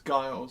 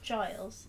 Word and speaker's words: Giles: for like the I think his name was Gaius or gills or how you pronounce it I think it was true they